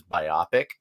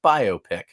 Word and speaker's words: biopic: Like I always thought it was biopic. Apparently it's pronounced biopic.